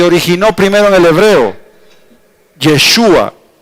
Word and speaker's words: Yeshua: es yeshua O sea la pronunciación está entre paréntesis yeshua pero yeshua vino a